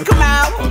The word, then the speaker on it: Kamau: I said, my name's Kamau, rhymes with Kapow with him.